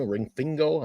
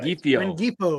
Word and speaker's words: Rengifo: Ringfingo? I never say his name. Right. Rengifo.